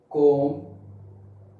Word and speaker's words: comb: Now, if we talk about B, at the end of the word, okay, at the end of the word, after M, B is silent. Like comb, tomb, bomb, womb.